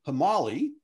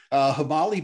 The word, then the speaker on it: Himali: So Dave Schaeffer started the company Himali. Am I pronouncing that correct, Dave? Yeah. All right. Himali back in 2014 with Tendi Sherpa.